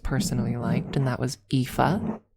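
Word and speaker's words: Aoife: that I just personally liked and that was EA spelled A O I F E. It's a very beautiful name. I love EA.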